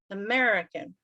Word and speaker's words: American: of it and american american second syllable american american right have your student